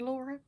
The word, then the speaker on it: Laura: welcome to call me Laura but laa is how my name is pronounced in Finland because that's where I'm